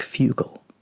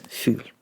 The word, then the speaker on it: fugl: This looks like a strange word. Looks like fugel, but it's fugl.